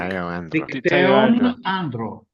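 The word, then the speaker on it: Δικταίον Άντρον: Is it Dictaean cave or Dikteo Andro. Yeah, in Greek. Dicteon Andro. Dictaeon Andro?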